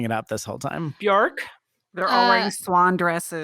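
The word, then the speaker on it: Björk: i decided that we're going to pronounce it bjorg so like york kind of yeah so i'm sorry that i'm i've been messing it up this whole time bjork they're all wearing swan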